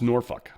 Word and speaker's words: Norfolk: She's like, "It's pronounced Norfuck."